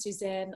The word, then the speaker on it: Sussan: I think you pronounced her name as Suzanne.